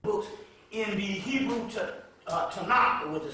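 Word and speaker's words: Tanakh: and the different books in the Hebrew uh Tanaka which is called It's pronounced it's spelled Tacoma but it's called a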